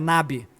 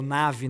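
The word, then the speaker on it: נביא: Natã, ele é chamado por um termo, é Nabi. Ele é o profeta Nabi, ou Navi, né? Depende da pronúncia, que é o profeta proclamador.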